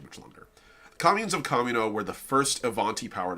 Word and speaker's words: Kamino: They maintain a trade hub and a political center in the core world of Kamino, quote, the world of crossed paths, name pronounced Camino. It's actually derived from Spanish.